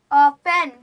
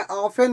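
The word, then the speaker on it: often: लिखो जगह बहुत है ओपन क्या है ऑपेन ऑपेन नहीं है ऑफेन होता है ऑफेन ऑफेन टी साइलेंट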